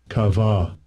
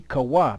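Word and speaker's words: קוה: Strong's H 6960, Kava, Kava. Which should be Kawa, because there's no V, so it should be Kawa.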